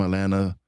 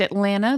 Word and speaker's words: Atlanta: I'm really happy to be here and I am uh really thrilled that you pronounced Atlanta the way it's supposed to be without that second T.